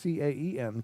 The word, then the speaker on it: Caen: Caen? No, it's Caen.